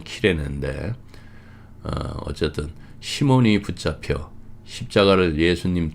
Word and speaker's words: 키레네: 예수님이 끌려가실 때 시골에서 온 그 구레네 사람, 제대로 발음을 하면 키레네인데, 어쨌든 시몬이 붙잡혀 십자가를 예수님 뒤를 따라 지게 했습니다.